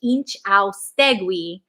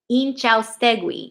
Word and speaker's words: Inchaustegui: Inchaustegui, like glee, but without the L. Inchaustegui, Inchaustegui.